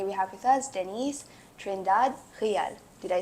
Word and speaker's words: Trindade: host and today we have with us Denise trindad did I say it right yes perfect Denise